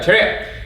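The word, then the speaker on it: 차렷: first all right so attention in Korean pronounced trick all right so when I say TRAI what she's going to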